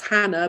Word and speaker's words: Chana: My name, if you can see it on the Zoom here, but it's pronounced Hannah, but it's spelled Chana.